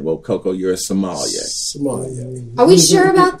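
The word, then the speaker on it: sommelier: correctly the other day he said it's a somal like Somalia somal a Somalia a guy who actually did that for a living so I said well Coco you're a Somalia Somalia are we sure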